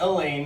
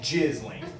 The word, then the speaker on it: Ghislaine: Oh, it's Ghislaine. Ghislaine. I think it's Ghislaine. Her name is, oh, sorry, it's not Elaine. That would be too weird. Her name is Ghislaine.